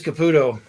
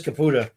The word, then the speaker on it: Caputa: So I want to go back to Liz Caputo. I'm sorry, Liz Caputa. Caputa. That's what I just said. Caputa. First time I said it wrong. Second time I got it right. She's not Caputo.